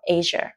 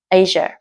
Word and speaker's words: Asia: My mom is from Asia không phải là Asia nhá từ chỉ có hai âm tiết thôi lể ý nhá Asia and my dad is